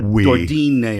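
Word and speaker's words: D'Ordine: It's an Italian name.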